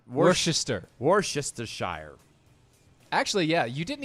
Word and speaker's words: Worcester: How do you pronounce it? Well, Worcestershire. It's Worcester.